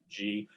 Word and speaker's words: Gee: a funny last name it's pronounced like the letter g so it's dave g um i was actually